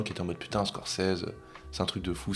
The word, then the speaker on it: Scorsese: Mais non, c'est vrai qu'avec Scorsese, c'est la vraie prononciation. Martin Scorsese.